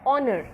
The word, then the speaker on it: honor: That is, we don't pronounce it as hat, where h is there, but something like honor, where the sound of h is silent, but having the sound of the vowel o.